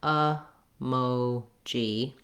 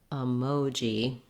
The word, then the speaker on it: emoji: Then lastly, in the last syllable, we have the j sound, which we do often spell with letter J. It's not as common in the middle of a word like in emoji, and letter I says the E sound. So this is just like in the word Jeep or jeer with a bright E sound and a pushed out j sound.